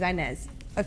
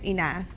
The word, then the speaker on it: Inas: So when I first started doing music, my name is Inez. Like, that's my name, Inez. In Arabic, it's Inas, but like that's how you pronounce it. Spanish people call me Ines. I love that. But I've always said Inez. That's like the Americanized way or whatever, but everybody always calls